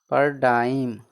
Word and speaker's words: paradigm: जैसे देखिए PARADIGM last में है ना अंत में GM, तो इसका क्या हो जाएगा उच्चारण नहीं होता है, तो PARADIGM पर डाइम, इसका क्या उच्चारण होगा पर डाइम।